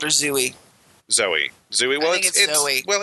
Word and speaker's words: Zooey: Zooey Deschanel which is charming just called her Zoey Zoey Zoey well it's spelled zuy well yes because the dashing L